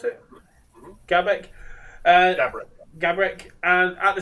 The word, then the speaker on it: Gabrek: Is that how you pronounce it? Mm-hmm. Gabrek.